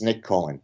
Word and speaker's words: Nick Cohen: His name rhymes with Knick Knohen, okay? I'm being facetious. It's Nick Cohen, okay?